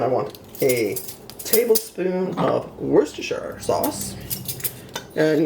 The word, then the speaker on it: Worcestershire: of Worcestershire sauce and yeah they're still controversy about how to pronounce it even here my favorite pronunciation that I've ever heard was wash your sister sauce I know it sounds weird but that's actually what somebody called it okay then we